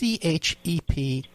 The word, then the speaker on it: Chepesiuk: And for people too, the way it's spelled Chepesiuk, it's a little unusual. It's Chepesiuk, but it's pronounced Chepesiuk. I always tell people it means Smith in Polish.